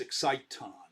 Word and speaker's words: exciton: should be really pronounced exciton i like that better it also rhymes with phonon and uh photon exciton right they're all